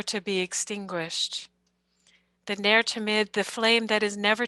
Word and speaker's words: Tamid: Adrian's correcting my pronunciation. Adrian, will you unmute and correct it, please? Tamid, excuse me, I knew that. Tamid.